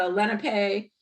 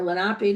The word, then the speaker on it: Lenape: algonkian uh groups the the Lenape or lenapi depending on how you pronounce it uh south of here